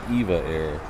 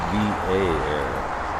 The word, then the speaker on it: EVA Air: years, several years now, I've always thought it was EVA air. I've just recently been told that I've been saying it wrong the whole time. It's EVA air initials.